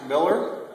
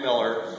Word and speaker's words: Millard: March uh so uh Ken's name is spelled m i l l a r but it's pronounced Miller and it's a pleasure to introduce to the club Ken Miller as their new Ken